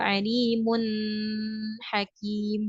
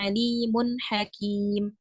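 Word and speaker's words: عليمٌ حكيمٌ: tinggal praktiikkkan saja gitu nah kesalahannya biasanya kadang kita itu memberikan gunah ya kita tahan bacaannya misalnya menjadi eh Alimun Hakim nah itu yang kurang tepat harusnya dia ee langsung saja bacanya itu misalnya Alimun Hakim enggak perlu ditambahkan ee Mad di sana ya bukan Alimun ada gunah yang keluar enggak gitu ya Oke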